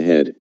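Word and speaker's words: 呵: The 6 sounds are Su, pronounced like shh with a deep sigh, which is associated with the liver; He, pronounced like her with a yawn, which is associated with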